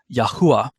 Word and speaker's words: Yahuah: pronounced that caused me to land on the pronunciation of Yahuah for Yod He Vav He.